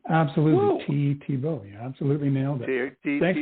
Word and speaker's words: Thebeau: both the first and the last name absolutely TBO you absolutely nailed it thanks for having me